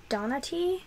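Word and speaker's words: Donati: my currently reading into the wilderness by Sarah Donna T that's how you say her name I did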